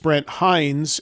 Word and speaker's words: Brent Hinds: And it's very much about their late guitarist Brent Hinds, and that is how it's pronounced because I heard the guy say it